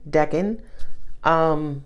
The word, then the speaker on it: decan: Google it, DECAN, decan. Could be deacon, I don't fucking know. I pronounce it as decan.